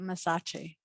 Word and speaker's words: Massachi: How do you It's pronounce like Versace, but Massachi. Massachi?